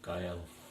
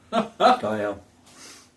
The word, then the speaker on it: Gael: You think of it like Guy and Al. Gael. Gael? Yeah. Like Guy Smiley and Al Bundy. Gael.